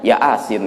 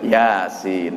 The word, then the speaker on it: Yasin: ngajinya enggak pakai bulu dia bacanya Ya asin gitu ya padahal panjang maksudnya Yasin gitu Nah dari kata